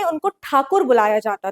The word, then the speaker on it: ठाकुर: करते थे पर क्योंकि जो ब्रिटिशर्स थे वो ठाकुर प्रोनाउंस नहीं कर पाते थे वो टैगोर बोलने लगे इस वजह से ही